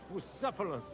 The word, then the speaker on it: Bucephalus: It's pronounced Bucephalus, Ishka.